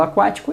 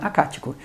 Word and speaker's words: aquático: Porque eu falo aquático, percebe? O que e o U são pronunciados, né? Então eu não tenho ali um dígrafo. Eu falo aquático e não acático.